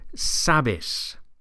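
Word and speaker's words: sabes: ending and we get sabis sabis notice that the stress here is on the first syllable sabis sabis how would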